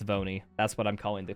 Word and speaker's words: V1: looking for no but V1 just spell out one and pronounce it it's vony that's what I'm calling